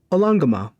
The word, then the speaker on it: Olongoma: This is he lets you know a teleportation circle to the town/city of Olongoma. Or I'm not pronouncing it correctly. It's Olongoma. Yeah.